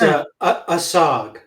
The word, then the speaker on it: ASOG: I'm not sure how to pronounce it. I was like, it's ASOG.